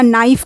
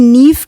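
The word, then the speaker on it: knife: जैसे कि अगर साउंड से बच्चा नाइफ़ को पढ़े, नाइफ़ को, इसमें के भी साइलेंट है और ई भी साइलेंट है।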